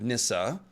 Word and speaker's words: Nissa: it very well with Nissa the E on the end uh makes a sort of e sound that's best represented in English by just making the ah sound so plural form would